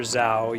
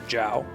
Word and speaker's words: Zhao: what else is there zh is usually like a j sound it's not quite J but that's that's much closer than a z sound so like Zha AO you wouldn't pronounce that Dr Zhao you'd say Dr Jiao